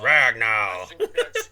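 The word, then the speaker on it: Ragnow: the Aging rag now it's pronounced rag now what it's pronounced rag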